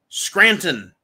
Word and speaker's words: Scranton: He couldn't even remember how to pronounce the name of his own hometown, Scranton. Scranton. He couldn't remember that. 2 syllables. 2 syllables.